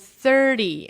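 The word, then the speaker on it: thirty: The same goes for 13, so the stress falls on teen for this one, and 30, and the stress falls on the first syllable here.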